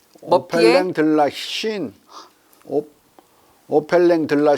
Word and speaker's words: Chine: 이후 메타스타시오의 에로우 차이니스, 볼테르의 로필린 데라 차이나, 머피의 오펠랭 들라 신 오펠랭 들라 신 해봐. 불어갖고 잘 읽더만. 머피의 디 어퍼. 로펠랭 네. 로르펠랭 들라 신. 차이나가 아니라 신이에요. 불어로 발음할 때.